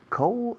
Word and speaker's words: coal: Coal? I don't remember. No me acuerdo. I don't remember. How do you say coal? Coal. Suena frío, pero sin la D.